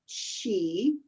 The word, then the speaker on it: Qi: So it's the word Qi. Qi is one pronunciation, and you'll actually see it spelled CHI.